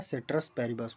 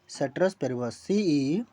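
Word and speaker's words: ceteris paribus: किस पे बेसिस पे ड्रा किया जाता है, वो आपका ड्रा किया जाता है सेट्रस पेरिबस पे। उसका स्पेलिंग क्या होगा, सेट्रस पेरिबस, CETERIS, सेट्रस पेरिबस, PARIBUS, ठीक है ना, सेट्रस पेरिबस।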